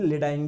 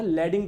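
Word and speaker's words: Leydig: की लैडिंग cell, या आप लोग इसको हिंदी में लेडाइंग भी बोल सकते हो ना, लैडिंग बोलेंगे ज्यादा सही रहेगा। लैडिंग लैडिंग लैडिंग, इसका प्रोनाउंसिएशन क्या है? लैडिंग है, ठीक है।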